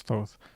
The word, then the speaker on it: Thoth: There is thoth, which represented, or thoth, I guess the proper way to pronounce it is thoth, represented wisdom and magic.